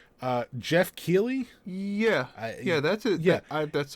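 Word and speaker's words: Geoff Keighley: Jumping off of that into a slightly bigger thing to discuss is I never know how to pronounce this guy's name right. Jeff Keighley?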